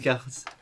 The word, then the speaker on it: Descartes: Lucas, what, mate, how do you pronounce it? Descartes.